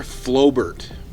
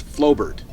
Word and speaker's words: Flobert: Uh, this shoots what's known as 9 mm Flobert. I'll put that on a screen because, well, I'm Canadian. My pronunciation isn't the greatest, but that's Flobert.